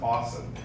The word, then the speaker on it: UOSSM: I'm so grateful for the critical work and the credible work of AWESSM. I love that acronym. I love the way that that's pronounced, awesome.